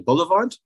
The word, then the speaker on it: Bullivant: but uh I have Stephen I hope I pronounced your last name correcting Boulevard yes perfectly I got it Steven who did